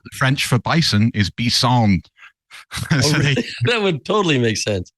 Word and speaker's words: bison: French for bison is bison that would totally Mak sense yeah yeah it's same same spelling just different yeah yeah it's just B emphasis on the final syllable in the French way I yeah um I